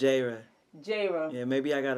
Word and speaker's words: Jayrah: It's Jayrah. Jayrah. Yeah, maybe I got to be in your ears one there time. There you go, Jayrah. Jayrah.